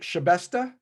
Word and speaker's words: Shabesta: Is it Shabesta? Oh, perfect. Very Okay. nice pronunciation. Well, it's just the way it looks.